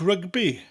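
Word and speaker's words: rygbi: I like rugby. Dwi'n hoffi rugby. Rugby in English and Welsh are very similar, but the Welsh version has a rolling R, and you emphasise the syllables slightly more.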